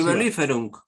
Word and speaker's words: Überlieferung: yo, la Überlieferung, no me acuerdo cómo se pronuncia. Überlieferung, Exacto.